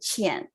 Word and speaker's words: Qian: So this Q actually makes it sound like CH. I know it's very difficult to pronounce it, my name. So it's like CH and Qian.